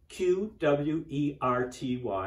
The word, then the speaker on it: QWERTY: The nickname is spelled Q-W-E-R-T-Y, and we just say that it is QWERTY.